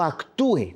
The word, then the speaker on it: actúe: Y no les interesa, pero dice, en el día en que yo actúe, tiene acento en la U, en el día en que yo actúe.